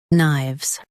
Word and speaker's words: knives: shown on the screen, knives. Both US and UK have the same pronunciation of this word, knives. Now read the syllables shown on the screen naturally. Knives, knives. Emphasize knives and keep K silent.